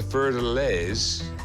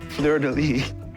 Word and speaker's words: fleur-de-lis: We have the Fer de Lys. I'm probably pronouncing that wrong. That would make it French. Fer de Lys, Fer de Lys, Fleur de lis.